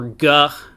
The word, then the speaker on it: Gu: Or Guh is how I've been told to pronounce it, which I will never remember.